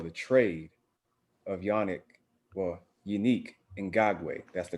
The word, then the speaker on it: Yannick Ngakoue: the signing well the trade of yannick well unique in gagwe that's the correct pronunciation just so y'all know uh going to